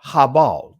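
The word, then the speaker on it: הבל: I'm going to touch on Abel, Habal. Those are the ancient Hebraic pronunciations of their names, to show you and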